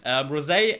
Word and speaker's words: Rosé: And Rosé. Sorry again for the wrong pronunciation in the other videos. Rosé and Jisoo are like the main vocalists.